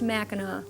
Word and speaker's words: Mackinaw: by the way Mao city is spelled the British spelling with a W while the other MAA end with a c which is the French version but they're all pronounced MAA and that's your spelling